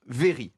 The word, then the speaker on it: very: deux voyelles prenons le prenez le mot very par exemple que je prononce à la française là un anglais british normal il va se prononcer vers un truc qui vient d'un petit peu de doutes du fond de la bouche est bien la reine elle fait quoi v v est le son est retape sur le vol de